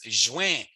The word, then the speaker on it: juin: So this is a good example of the N being a nasally N. Okay. And again, a good hint of that is I know it's a French word and I know it's at the end of a word. So it's almost always going to be a nasally sound.